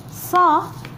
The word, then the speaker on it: ص: Saw is a strong sound of sa. What is the difference? For example, here we say seen, here we say seen, here we say sa, but here we say saw. Can you hear the difference? Si, so, sa, saw, su, saw.